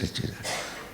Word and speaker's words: Satchidananda: Now what is this Satchidananda? 3 syllables, split them. Sat, Chit and Ananda.